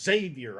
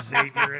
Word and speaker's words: Xavier: Hey, at least you pronounced it properly. Oh, good. Okay. All right. A lot of guys will call it Xavier, and that drives me nuts.